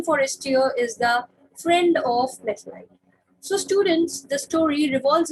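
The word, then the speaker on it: Mathilde: The first one is Methlite. In some of the books, you must have seen the spelling written as Matilda, and some of the people pronounce it as Matilda, whereas some pronounce it as Methlite.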